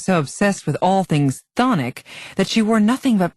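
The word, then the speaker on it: chthonic: with his gin well the first c is silent and not to mention the first h whatever phonic means having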